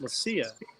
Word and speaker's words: Leccia: Right, but Italian it would be Leccia, 2 C's or a ch in Italian, so it'd be Leccia. But my family's from Corsica, which they're all Italian, but they all speak French, so the name's pronounced Lucia.